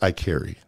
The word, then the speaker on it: Iaccheri: It's in English, it's I carry. Like I carry my phone. Oh, that's so easy. It's very simple. But remind me how you spell it. IACCHERI.